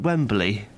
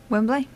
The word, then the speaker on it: Wembley: Wembley. Yeah, all northerners do this. You add an extra syllable.